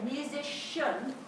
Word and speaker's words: musician: C-I-A-N ending, but when you say musician, it's a shun sound at the end.